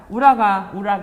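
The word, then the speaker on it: 浦賀: 우라가 발음이 되는데 현재 도쿄에 해당하는 지역이라고 합니다.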